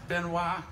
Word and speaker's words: Benoit: And if y'all have never seen me before, it is pronounced Benoit. For all you Benoit people out there, y'all been doing it wrong. This close to Canada, y'all should know.